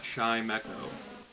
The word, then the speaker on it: Chimecho: could be chinchou chinchu i would pronounce that chaimeko because it's like a bell it's like a wind chime so you got chime and then you have echo for trimeco and it's baby